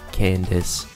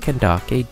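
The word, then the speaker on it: Candace: nuts in your mouth no not Kake or whatever the you El literate crack gets caller if it was pronounced kandake d be a K in her name learn English number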